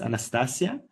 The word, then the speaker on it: Anastasia: Nothing to do with an Anastthesia. It's Anastasia which is today Sharia Al Jazer.